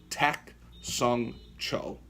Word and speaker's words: Tak Sung Cho: But just so you can pronounce it correctly, the correct way to say it is Grandmaster Tak Sung Cho.